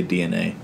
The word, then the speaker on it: DeNA: It's spelled DENA, but you're supposed to you say DNA.